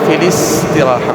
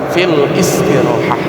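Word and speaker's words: فِي الاِسْتِرَاحَة: Kenapa ini dibacanya filistrahah? Bukan fil istirahah? Nah, jadi kaidah di dalam ilmu tajwid itu ketika bertemunya dua sekun ya, dua sukun maka salah satu mereka harus mengalah. Ah, lihat di sini feel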